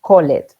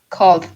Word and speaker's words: called: Call, ojo con call, porque escucho muchísimo call it, call it. Y eso no es así, ¿ok? Según la regla, ¿cómo se pronuncia? Called. Yes, very good, Laura. Called, called.